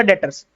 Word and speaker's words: debtors: इसमें पता नहीं क्या साइलेंट होता है, क्या साइलेंट होता है, बी साइलेंट होता है, डेटर्स बोलते हैं हम इसको, तो डेटर्स है।